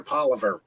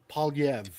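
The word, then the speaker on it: Poilievre: And what happened to Pierre Polivier? Or Polyev. Polivier? Or Pierre Polyev. is that how you pronounce it? Polyev.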